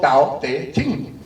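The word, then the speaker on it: 道德經: Entonces, por ejemplo, el Tao Te Ching, en pinyin se escribe Dao De Jing.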